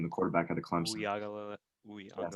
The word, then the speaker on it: Uiagalelei: Uyagalele. Yes, Uyagalele.